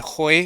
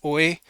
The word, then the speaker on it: hoy: So like notice it said Hoy instead of Oi. So it doesn't know proper Spanish pronunciation, but that's okay.